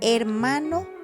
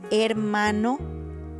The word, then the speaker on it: hermano: You don't pronounce it. For example, hospital, hermano, hielo. Not hospital, no, you don't pronounce it. Hospital, hermano, hielo.